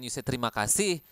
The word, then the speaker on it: terima kasih: Oke kasih is love Terima kasih accep love from Somebody El Oke terima kasih thank you terima kasih again you need to pronounce the ag clearly now we have selamat